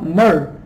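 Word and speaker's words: myrrh: लीजिए, उसमें tincture of मिर, टिंचर ऑफ मर उसका है प्रोनाउंसिएशन, ये देख लीजिए मैंने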